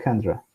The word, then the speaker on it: Chandra: observatorio, en este caso, espacial Chandra, o que de inglés se podría pronunciar como Chandra, ¿ya?